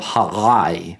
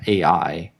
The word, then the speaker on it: Ai: The Battle of Halai. That's how you say it, not AI.